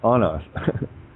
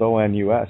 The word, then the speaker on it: onus: Well, again, they place the own us on us. It's spelled O-N-U-S, right? So the onus, pronunciation, sound, own us, to own us, is on us.